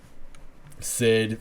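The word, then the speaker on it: Cid: a lot of people yeah yeah okay it's pronounced kid Sid from the the kingdom of midgar and he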